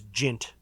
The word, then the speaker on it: Jint: And some of them just have ridiculous names, but one of them is Jint. And it's pronounced like it's being cut up. Jint.